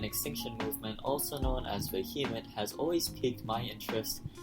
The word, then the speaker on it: VHEMT: The Voluntary Human Extinction Movement, VHEMT, pronounced Vehement.